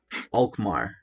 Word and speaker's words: Alkmaar: So how is it pronounced actually? Alkmaar.